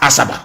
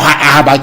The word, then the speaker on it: Asaba: They stayed at Asaba, or Ahaba to pronounce the correct name, and they came to Omai in Ibeku.